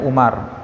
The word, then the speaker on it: Amr: Amr dan dari Abby Amr pakai awug bacanya Amir ya kalau nggak ada WAnya bacanya Umar The Way You call